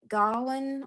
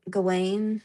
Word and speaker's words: Gawain: But Yeah, you can say Gawain or Gawain. I've heard both before.